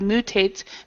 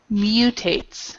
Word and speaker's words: mutates: Okay, so we would pronounce that instead of mutates, mutates.